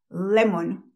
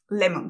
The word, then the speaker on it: lemon: yo seguía diciendo Lemon Cuántas veces les he dicho yo que las o en inglés ninguna o en inglés se pronuncia como una O al no hacer que la siga una r esté en la sílaba acentuada Pues yo seguía diciendo